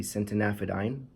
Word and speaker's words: centanafadine: an update on the sentient aphid ein that's how I've decided to pronounce it now since an aphid ein because it has that a at the end so that's what I'm